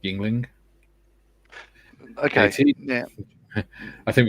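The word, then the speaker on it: Yuengling: Joe says, John Marley's pronounced Yingling.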